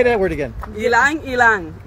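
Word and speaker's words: ylang-ylang: And I have Gilang Gilang. You know Gilang Gilang? No. You don't know Gilang Gilang? How do you say it again? No. Wait, say that word again. Ilang Ilang.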